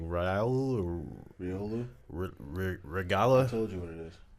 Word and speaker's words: Riolu: Can Yeah, you not hear Ragu. me? Ragu sounds right. Ragu. I just hatched a baby Ragu out of a 10K, It's man. Riolu.